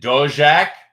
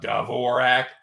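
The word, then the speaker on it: Dvořák: All right, we got David Dojack. For all you pronunciation sticklers out there, it's not Dvorak. I've heard his name pronounced on regional fights. It's Dojack.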